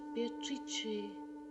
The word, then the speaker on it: Beatrice: It is pronounced Beatrice in Italian, which makes it very beautiful. Meeting Beatrice on the Ponte Vecchio.